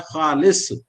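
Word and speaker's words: ख़ालिस: खे उसका उच्चारण है, एक में क में ह लगाकर ख लिखा जाता है खाना, और दूसरा खे से लिखा जाता है खालिस।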